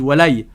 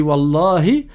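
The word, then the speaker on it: والله: Pareil, il y en a qui disent walay. Walay, c'est pas correct. Soit tu dis wallahi, soit tu dis walhayyi. Oui, c'est un nom de Dieu également, mais tu dis pas walay ou bilay, billah ou bien bilhay.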